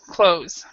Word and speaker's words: clothes: It's basically this: clothes. So we don't even pronounce. Oops. No L. We don't pronounce the th at all.